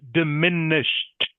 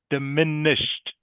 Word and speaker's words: diminished: Diminished. Diminished. Can you say that please? Knock. Okay. The E D on this word, the E D is pronounced like a T.